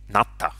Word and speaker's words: natta: acadian for not so when the hittites wanted to write down not they spelled it ul but they pronounced it natta which is hittite for the word not here you can see